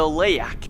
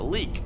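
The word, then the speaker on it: leyak: four we have the layak or in indonesia people call it a leak they don't like to pronounce the y well this is a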